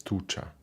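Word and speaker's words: туча: European languages more yeah how to pronounce this this this letter I'm not sure if it's chill or G uh let me just quickly check it's Che yes so it's tucha sure oh thank you thank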